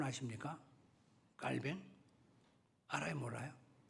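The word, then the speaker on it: Calvin: 켈빈, 깔뱅 정확한 발음입니다.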